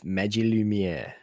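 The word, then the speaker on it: Magilumiere: It's it's Magil Lumiere. What? Isn't that what I said? No. What did I say? You broke it into two words.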